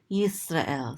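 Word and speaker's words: ישראל: And this is an aleph with a tzere, this is and this lamed closes out the syllable to say el. Yisrael.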